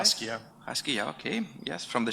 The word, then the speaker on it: Haskiya: Um, David Haskiya, do I pronounce it right? Haskiya.